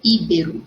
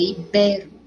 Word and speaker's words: ibero: Olha o acento no ibérica, ibero, continua sendo a sílaba forte o bé, tá? Não é íbero. Se fosse íbero, teria acento no i, é ibero, ok?